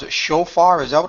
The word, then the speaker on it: shofar: I'm going to pronounce it shofar.